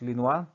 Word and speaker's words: Lenoir: And of course, further, we have Joseph Etienne Lenoir, pronounced as Lenoir, invented a gasoline-fed engine for automobiles, now known as the internal combustion engine.